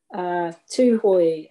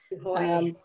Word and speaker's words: Tūhoe: Tūhoe is the pronunciation. Tūhoe.